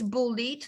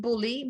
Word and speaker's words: bullied: bullied so he gets bullied not bully but bullied that the d has to be pronounced otherwise uh you write bully he gets bullied right